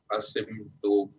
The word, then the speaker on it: Asymptote: Now it'll be interesting because asymptote and OM have Asymptote. around. How do you pronounce it?